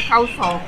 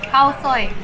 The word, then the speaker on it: Khao Soi: Pronounce it Khao Soi. Khao Soi.